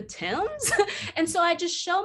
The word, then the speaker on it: Thames: So like the Thames River, which is spelled Thames. And it's just like, if it were really about phonetics, would that be pronounced the Thames?